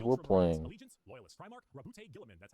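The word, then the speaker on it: Roboute Guilliman: Allegiance, Loyalist, Primarch, Rabute Gilliman, that's how it's said.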